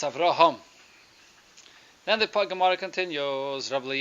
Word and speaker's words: Avraham: Rama Sri Lanka - it's pronounced after home but many times when it's pronounced in English its Avram I'll remove it whatever sort of yeah the H gets lost understand it shouldn't that's right so it's Avraham then the pak'ma'ra continues